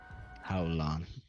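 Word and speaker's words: Hallan: man uh no uh holon is spelled ha AU l l a n how long he probably says something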